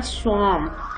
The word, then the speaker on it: swarm: इसी तरह स्वार्म, SWARM, इसमें R साइलेंट है.